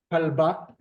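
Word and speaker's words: כלבה: Yeah, could you repeat that, just the pronunciation of the letters of the bottom word? Kalba, kalba.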